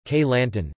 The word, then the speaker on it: Kelantan: Kelantan, Malay pronunciation, Kelantan, Jawi, Klantan RTGS, Kelantan, Kelantanese, Kelat, is a state of Malaysia.